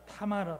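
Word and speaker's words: תמר: 자, 그다음 예, 다마르의이 히브리어 발음은 타마르입니다. 타마르.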